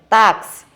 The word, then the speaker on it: táxi: Como aqui nós temos o exemplo, táxi. Táxi, a sílaba tônica é tá. Ela se localiza na penúltima sílaba da palavra.